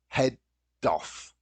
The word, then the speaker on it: head off: this naturally notice that the D at the end of head joints the particle so head off let's head off let's